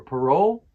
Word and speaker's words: parole: Here's the pronunciation guide for parole. Parole, and the stress is on the roll.